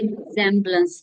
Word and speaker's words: resemblance: रिजेम्बलेंस, देखिए अब ये इसका प्रोनाउंसिएशन देखिए, रिजेम्बलेंस है, ज है यहाँ पे, रिजेम्बलेंस। ओके, इसलिए मैं इसको रिजेम्बलेंस क्लियर करके बोल रही हूँ।